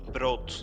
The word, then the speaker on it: brood: And bread in Dutch is spelled instead of EA with a double O, so it's brood.